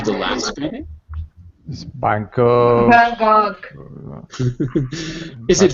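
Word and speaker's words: Van Gogh: Vanog. Is it Van Go or Van Go? Van Go. Vanog. It in it's in America for some reason we use a French pronunciation.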